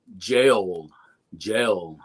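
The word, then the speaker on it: gaol: So jail is actually spelled G-O-A, or I'm sorry, G-A-O-L, jail, right?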